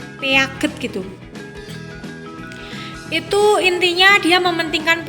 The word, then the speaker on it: Piaget: atau tokohnya itu adalah pijet Muhammad bacanya Piaget gitu itu intinya dia